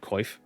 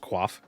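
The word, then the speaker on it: coif: So everybody said koif was actually pronounced qua which is weird.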